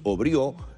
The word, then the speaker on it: Aubriot: Yo lo presenté como Luis Obrió, él me dirá si lo pronuncié bien o mal, porque capaz que él lisa y llanamente se hace llamar Aubriot. Bienvenido, un placer tenerlo, doctor. Hola, muchas gracias por la invitación. No, la pronunciación es perfecta, está muy bien, la primera opción.